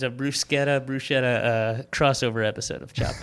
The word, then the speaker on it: bruschetta: Brusetta or bruschetta? Um, I would say bruschetta, but I'm not I've heard it both ways.